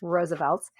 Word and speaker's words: RSVLTS: And so Roosevelt's, which we've talked about before on the show, but if you're unfamiliar, Roosevelt's is spelled capital RSVLTS, pronounced once again, Roosevelt's.